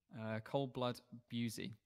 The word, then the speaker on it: Bussey: Ronnie Coldblood Bussey, pronounced B-U-Z, joined the US Navy in 1968 as a CB and served 2 tours in Vietnam.